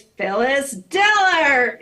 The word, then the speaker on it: Phyllis Diller: The sound guy was trying to read her intro, and he wasn't putting the emphasis on the syllables right. Right. So she said, no, it's Phyllis Diller.